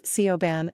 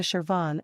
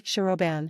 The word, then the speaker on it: Siobhan: at the initial S this is pronounced as a soft sh sound like in the words sheep or Shai so instead of Coban it will be shoban sure sure next we